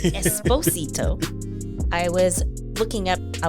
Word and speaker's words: Esposito: I rolled the r Esposito I was looking up I wanted to make sure I said it right so he says it's Esposito not Esposito I saw that I